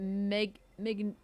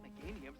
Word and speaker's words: Meganium: Was it Magnumia? Is it Magnumium? How do you say this? I don't know. Hey Geeksmith, how are ya? That Meganium's the Illumina Pokemon.